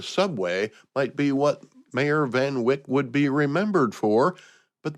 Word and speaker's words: Van Wyck: This week in 1900, the mayor of New York City, Robert Anderson Van Wyck, I think that's how you pronounce it, Van Wyck, Van Wyck, W-Y-C-K, breaks ground for a new underground rapid transit railroad that would link Manhattan and Brooklyn.